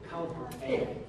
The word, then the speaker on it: Kaltxì: And it's not A, it's I. Kaltxì.